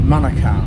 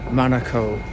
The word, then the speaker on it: Manukau: of this place, and it is Manukau, not Manukau. So it's a bit like Monaco, if you remember that.